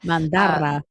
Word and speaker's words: Mandara: Mandara.